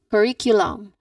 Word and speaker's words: curriculum: Say curriculum. Curriculum. With that Q sound on the third syllable.